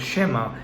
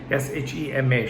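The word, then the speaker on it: שְׁמַע: 6 verses 4, as Shema, Shema, Shema, which is how the first word in Hebrew text is pronounced.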